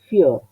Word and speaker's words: fior: Pero si estoy diciendo fior, tengo que estar atento a que esta I no es una I fior, además de que no hay ninguna indicación de acento, sino que es un diptongo. Entonces, fior.